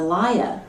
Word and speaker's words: lawyer: Well, the liar, like your husband, the liar. That's how they pronounce lawyer.